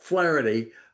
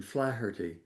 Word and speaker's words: Flaherty: Well, I'm I'm as Americans call it, Flareity, but it's fl I I use the Irish pronunciation flirty.